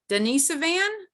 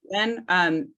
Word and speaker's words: Denisovan: You mentioned, and I'm going to probably mispronounce this, the Denisovan. Where were they discovered? Did I say that even close to close? Yes, you did. Okay. Denisovan, Siberia.